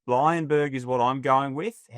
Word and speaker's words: Bleijenbergh: First of all, talk us through the the pronunciation. Lionberg is what I'm going with.